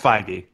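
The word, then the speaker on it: Feige: movie universe and how Kevin F F or fige or the he say his name f yeah whatever Kevin what's his we'll call him that um yeah no it's pronounced 5D he's he has got a very strong focus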